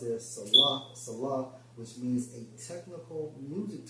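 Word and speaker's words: Selah: Now, when you go into that term Salah, because you see that term in Psalms a lot, in Strong's H5542 pronounced as Salah, which means a technical music term, probably showing pause and interruption.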